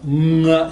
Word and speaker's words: nga: One notorious thing about Navi is that it has this NG sound at the beginning of a word. So the word for you is nga, N-G-A. Now the N-G sound is very familiar in English. We have it all over the word, sing, bring, hung, whatever. What we don't have is that same sound at the beginning of the word.